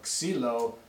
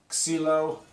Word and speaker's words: Xylo: our cilo chassis incidentally cilo uh is the Greek word for wood basically so it's basically your stick that's what that's where the name came from x y l o pronounced kilo so the action let's